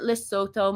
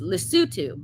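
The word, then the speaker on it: Lesotho: was perturbed that Harry had failed to visit Lysoto more often. Or hold on, you guys told me how to pronounce it. It's Lutu more often.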